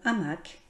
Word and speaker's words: hamac: Dans quel mot prononce-t-on le C? Franc, estomac, tabac, hamac. Je note le mot hamac.